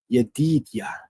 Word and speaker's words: Yedidiah: My biblical scholars out there should know that name is Yedidiah. Yedidiah, sometimes pronounced in the English as Yedidiah, right?